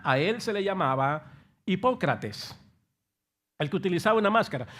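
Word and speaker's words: ὑποκριτής: Significa, en el griego se pronuncia hipócrates. Así, hipócrates en el griego.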